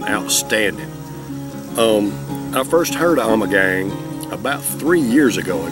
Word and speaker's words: Ommegang: very strange name and the way i pronounce it is i'm a gang i'm a gang brewery out of cooper town